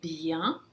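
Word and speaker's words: bien: byan sem ficar bem Se ele vier sozinho na frente de uma consoante se pronunciar Bian com som nasal Bian mas aqui vem na frente de uma vogal então o n vai se pronunciar vai fazer analise um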